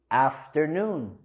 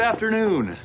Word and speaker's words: afternoon: Y igual aquí queremos subir la entonación en la primera sílaba de afternoon. Afternoon. Good afternoon.